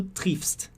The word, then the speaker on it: triffst: Não tem o e, então você vê que é bem mais rápido do que o ie no alemão.